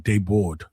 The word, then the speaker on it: Desbordes: Desbordes, but it's pronounced like Dayboard. All right. Dayboard. Yeah, like the S's are silent, but I think it's I think it's German.